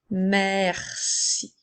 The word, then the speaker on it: merci: dans le mot ciel même si la lettre E ne prend pas d'accent elle va quand même se prononcer comme un est pour faire merci alors on peut utiliser